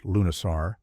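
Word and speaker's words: Lughnasadh: Lugnasad, pronounced Lunisar, was the Celtic festival dedicated to Lug, the god of light, skilled crafts, and battle.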